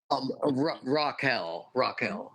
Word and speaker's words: Raquel: Is that how you pronounce it? Raquel.